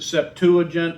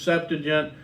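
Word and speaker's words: Septuagint: Um, some people pronounce it septuagent, others septagent. Which one's correct? They all are.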